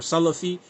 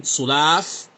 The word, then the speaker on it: Salaf: If you're saying you're trying to refute people who are Salafi and you're saying Sulaaf and the Aqidah of the Salaf, this is this word, man, in Arabic, you're not pronouncing it correctly.